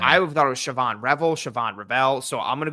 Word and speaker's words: Shavon: I've heard that his name is Shavon Revel. I'm going to say Shavon every time. I thought it was Shavon Revel.